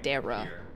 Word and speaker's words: Dera: proud of myself yeah my real name is pronounced Dera it's like Sarah with a d what are you guys